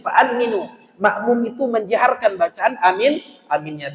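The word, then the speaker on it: آمين: Karena di dalam hadis fa'aminu, makmum itu menjaharkan bacaan amin, aminnya, tapi cara membacanya hanya pendekkan 2 harakat, minnya boleh panjang.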